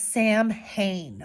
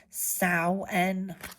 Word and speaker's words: Samhain: It looks like it says Samhain, okay? Samhain, but it's pronounced Samhain.